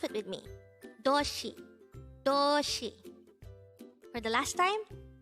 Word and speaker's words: 도시: word number 234 toshi this is pronounced as a two-syllable word the first syllable is do second syllable is she pronounce it with me doshi toshi for the last time doshi the word doshi is